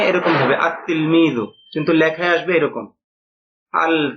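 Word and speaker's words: التلميذ: তো এটা ওই উপরের নিয়ম অনুযায়ী হওয়া উচিত ছিল আল তিলমিজু এরকম না। বরং এটা সঠিক উচ্চারণ হবে। উচ্চারণে এরকম হবে। আত্ত তিলমিজু। কিন্তু লেখায় আসবে এরকম। আল তিলমি আত্তিলমি। মানে এখানে লামটা। উচ্চারণ হবে না।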